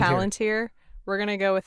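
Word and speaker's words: palantír: Oh, should note in the movie they pronounce it Palantir, which is terrible, and I reject that pronunciation because I would agree with Palantir. You, yeah. It's Palantir.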